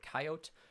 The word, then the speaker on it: Coyotes: at their games um regardless of how you say coyote or coyote um their marketing department has committed to the phrase coyote three syllables yes um the original